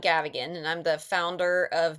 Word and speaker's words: Gavigan: So, my name is Gavagan and I'm the founder of Gavagan.